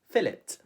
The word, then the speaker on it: fillet: fill out your fish but the brits pronounce it a little bit differently they would say fill it fill it do you know how